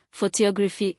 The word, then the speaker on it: photography: For example, photograph, stress on the first syllable, photography, it's stress on the second, photographic, stress on the third.